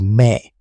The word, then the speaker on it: me: The term me pronounced roughly as me refers to the divine attributes or cultural principles that govern civilization.